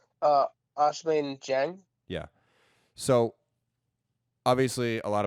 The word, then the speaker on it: Ousmane Dieng: Ousmane Dieng.